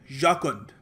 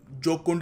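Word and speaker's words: jocund: इसको प्रोनाउंस करने का तरीका है याकुंड। ये जोकुंड मत बोलना इसको।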